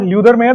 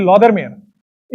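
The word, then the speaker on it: Lothar Meyer: This is नॉट ल्यूदर मेयर, this is लॉदर मेयर।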